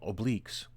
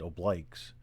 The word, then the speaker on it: oblique: give forward march that's only on a uh obliques the marine corps pronounced well the military pronounces it oblikes uh but the actual correct pronunciation is oblique